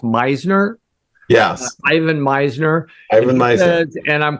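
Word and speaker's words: Misner: I believe his last name is pronounced Meisner.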